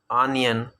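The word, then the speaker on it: onion: लोग इसको गलत प्रोनाउंस करते हैं, ऑनियन कहते हैं, जबकि ये है आनियन।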